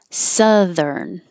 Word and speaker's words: southern: perspective so perspective introspective southern looks like oh you but it's just uh like up southern and the th is voiced thurn and i'll skip